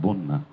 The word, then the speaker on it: বন্যা: এটা বানান তো ব দন্তন্নই যা ফলে আকার, বন্যা। উচ্চারণ বয়কার দন্তন্য দন্তন্নই আকার, বন্যা, কন্যা।